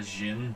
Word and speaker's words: Djinn: So, this one is called a Djinn, so it's spelled D-G-I-N. Okay. Or D-J-I-N. Mm-hmm. But it can also be spelled J-A, or J-I-N-N as well. Okay.